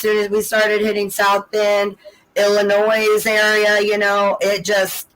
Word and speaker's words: Illinois: where is Nick live Illinois okay well she said it right what's up in Illinois yeah about so you put the S I do that to